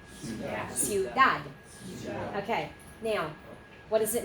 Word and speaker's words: ciudad: Okay, so in this word right here, it is C-I-U, and because of the I, it's going to be a soft C, and it's the U with an S sound in front of it. So what is the first syllable? Siu. And then what? Dad. 2 syllables only, not 3. Ready?